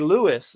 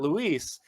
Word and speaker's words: Luiz: It should be Lewis, not Luis.